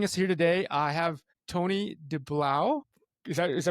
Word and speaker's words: Tony Deblauwe: So for the folks joining us here today, I have Tony Deblauwe. Is that pronounced That's correctly?